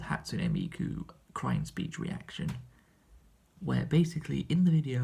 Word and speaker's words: Hatsune Miku: And funnily enough, that is the first time where I have actually pronounced her name correctly on this channel. Every other time I've mentioned her name, I've called her Hatsune Miku, which of course is not her name.